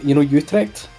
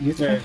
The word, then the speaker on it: Utrecht: And then I went to, Utrecht. Is that how you say it? Utrecht?